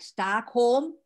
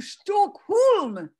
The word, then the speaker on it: Stockholm: and we said like something like stockholm question mark and that nobody could understand this and finally one person said oh stokholm we had pronounced it wrong but we i we